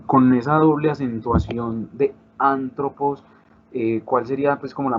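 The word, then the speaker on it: ἄνθρωπος: colocar el acento en una de las tres últimas sílabas. Colocamos la palabra antropos. Entonces, si la voy a dividir en sílabas, sería antropos. El acento en esta palabra ya lo conocemos porque conocemos en el vocabulario la palabra. El acento principal es este, o sea que la fuerza intentaría hacerla acá.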